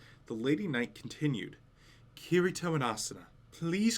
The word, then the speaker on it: Kirito: are difficult to pronounce is it kirito her intonation was slightly off so i repeated myself kirito kirito that's perfect that must have been